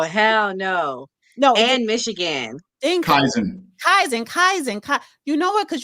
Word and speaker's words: Kaizen: thought Kaizen, that's how you pronounce Oh, hell no. No, And Michigan. Kaizen.